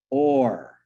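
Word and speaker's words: אור: word is light and in Hebrew it's pronounced or or is the word for light this is fascinating words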